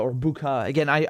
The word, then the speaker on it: Bucha: or bukha again i i really don't know i'm hearing you know two different pronunciations what i like to do is say things the way the locals say it and my impression is it's bucha because i heard the uk ambassador saying is buca i was like okay well i'll just go i'll take her lead since she's gonna launch